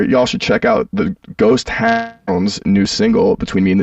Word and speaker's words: Ghost Hounds: should check out the ghost Hound's new single between me and the devil that's I say it like that cuz people always think I'm saying ghost town but it's hounds like the dog like yeah I I